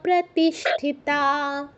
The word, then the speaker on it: প্রতিষ্ঠিতা: ইন্দ্রিয়াস প্রতিষ্ঠিতা বলো প্রজ্ঞা প্রতিষ্ঠিতা প্রজ্ঞা প্রতিষ্ঠিতা ঠিক আছে তকে থ উচ্চারণ করা যাবে না সুন্দর হয়েছে ঠিক আছে